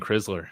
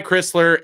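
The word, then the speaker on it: Crisler: I think I was always saying Kriler.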